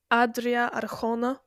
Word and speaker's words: Adria Arjona: Adria Arjona, which is how you pronounce her name, I've heard, She the one in plays.